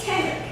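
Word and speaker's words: tenrec: It's a tenric. And number 10 and the name Rick right after it. Tenric. It doesn't spell that way, but it sounds that way.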